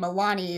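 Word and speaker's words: Aolani: changed the spelling because the way that the Hawaiian name Aulani is spelled is a-o-l-a-n-i and I am never gonna remember that the O is supposed to be silent and she's an alien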